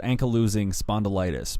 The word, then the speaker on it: ankylosing spondylitis: I think you pronounce it ankylosing spondylitis, because I remember in the book The Dirt, he does recall hearing what the doctor had said, that there is the word losing in it, which basically, if